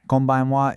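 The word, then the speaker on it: こんばんは: Kombanwa is good evening. We went from konnichiwa to kombanwa. That kon sound stays the same, which kind of gives you a clue, doesn't it?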